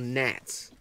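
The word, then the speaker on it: Gnat: Nat, like the G is silent.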